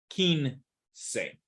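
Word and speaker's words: quince: down here Keen say whenever you see the q u i okay it's a silent U it's Ki kin say all right so that's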